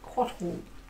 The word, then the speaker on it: Cóatl: It is actually a pronunciation guide on the rule book. It's like Cóatl.